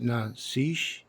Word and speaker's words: Nazish: The thing about her name, her last name, it's pronounced Nazish, but when people look at it, it looks like Nazi H.